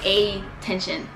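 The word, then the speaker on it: Attension: In Hongdae, there's a club called Attention, but it's spelled like A-T-T-E-N-S-I-O-N instead of like attention with a T. It's like A-Tension.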